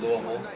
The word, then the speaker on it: Louisville: I was born in Louisville Kentucky as we pronounce it Louisville um but in the country so I'm a